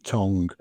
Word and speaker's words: Tonge: It's Tonge, Tonge, Tongue, as in your mouth, tongue.